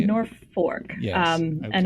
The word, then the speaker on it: Norfolk: Have you been able to find a trail community, for want of a better term, up in, is it Norfolk?